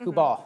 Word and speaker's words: Kubal: Is it Kubal? Kubal, yeah.